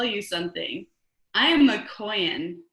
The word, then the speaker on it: Kohen: I am a Kohen. Kohen is how she pronounced Cohen.